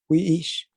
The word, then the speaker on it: wi'ish: Kaan, que el, wiish, ko puuk. Ok. La tercera y la cuarta me la leíste diferente. ¿Puedes repetir? Wiish, Wi'ish. wiish y ko Es o. Ko-o. Es correcto. Entonces, la Gracias.